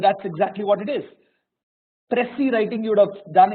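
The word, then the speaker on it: précis: exactly what it is pressy writing you would have done in your 10th class you know it's called presses writing it's pressy writing that is what the pronunciation is given a long paragraph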